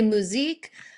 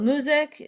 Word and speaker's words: MOOZiQ: your flavor on it some people say musique we call it music you know like Mo